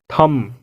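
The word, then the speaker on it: thumb: क्या आप इसे थंब कहते हो? तो आज से आप थंब नहीं थम कहेंगे। एम के बाद अगर बी आए तो यहाँ भी बी साइलेंट होगा, यहाँ भी बी को प्रोनाउंस नहीं करेंगे।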